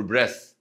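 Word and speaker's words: breath: ازاي عشان عشان ياخد الاكسجين يقوللك جاسب فور بريث بريث بريث بريث دي تتنطق بريث وما فيش ايه في الاخر اللي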